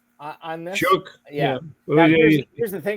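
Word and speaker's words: Shough: I I I've heard uh uh Shook on this. Shook. Yeah. Here's the thing. Doesn't have a K anywhere in his name.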